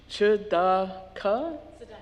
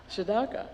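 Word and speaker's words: צדקה: The Hebrew word for this is which is some symbols pronounced shaka. Saddaka. Yeah, Saddaka.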